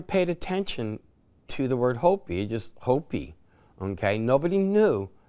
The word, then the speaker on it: Hopi: Nobody ever paid attention to the word Hopi, just Hopi, okay? Nobody knew it's Hopi. And Hopi, the Ho means tiger. The P, okay, which is interesting because the I is pronounced as an E.